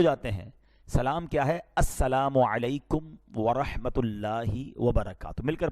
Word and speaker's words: السلام علیکم: ہاں سلام کی تلفظ ہی ٹھیک نہیں ہے. السلام علیکم, السلام علیکم, یہ سلام نہیں ہے, بلکہ بعض اوقات تو اس کے میننگ ہی آؤٹ ہو جاتے ہیں.